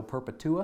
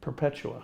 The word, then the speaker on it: Perpetua: You're part of the governor's uh working group with this Operation Esto Perpetua. Is that how you say it? Perpetua. Perpetua. Okay, I'm putting the wrong emphasis there.